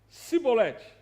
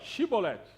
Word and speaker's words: chibolete: Então fala cibolete, ou melhor, chibolete. Eh, a palavra significa rio corrente, mas a a questão não era o significado da palavra, a questão era a pronúncia. os efraimitas, então, por ter por ser uma terque diferente, por ser uma vertente cultural, não é? Eles não conseguiam falar com o SH chi s chibolet, eles falavam cibolete, né?